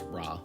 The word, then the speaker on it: Ra: The only different syllable is Ra, which got an Ah sound, since the original Re already has that E vowel, and we needed it to be changed to signify that lowered second pitch.